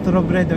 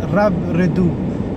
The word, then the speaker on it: Robredo: So tandaan natin ang pronunciation ng kanyang apelyido, it's not Robredo, it's Robredo.